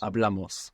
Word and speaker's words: hablamos: Hablamos. Good. So with amos, we're adding on 2 syllables, and the accent is going on the second last syllable.